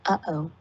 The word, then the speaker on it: UOO: I wonder what would happen if there was a united organization of organisms, UOO, pronounced uh-oh, where each species gets one vote.